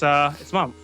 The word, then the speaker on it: Memph: So it's Mumph, but it's spelled Memph. Huh.